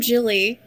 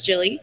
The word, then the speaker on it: Gilly: Hi, I'm Jilly. You can find me most places on the internet at Oh Look It's Jilly. Jilly is spelled with a G.